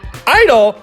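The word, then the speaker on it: (G)I-DLE: Open parentheses G, close parentheses I, hyphen DLE. It's girdle, right? Definitely girdle. I-DLE?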